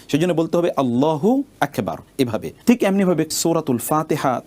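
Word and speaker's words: الله أكبر: এখন আপনি আল্লাহু আকবার না বলে যদি আপনি বলেন আল্লাহু আকবার। হু আকবার যদি আপনি বলেন তাহলে মনে হচ্ছে যেন হুটা আকবারের সাথে সম্পৃক্ত।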